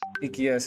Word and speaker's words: Ikias: Like, how do we pronounce it, Ritesh? Ikias S. Ikias है।